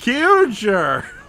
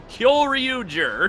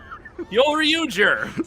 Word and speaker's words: Kyoryuger: Kyuger! Kyoryuger. Koyoryuger! Kyoryuger.